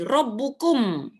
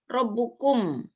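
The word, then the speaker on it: ربكم: Nah, kalau ini ro, ini ba ada tasdid, maka bacanya rob. Ini tanwin ada tanwin, robbu. Ini ku, ada mimnya mati. Robbukum. Robbukum. Tuhan kamu semua.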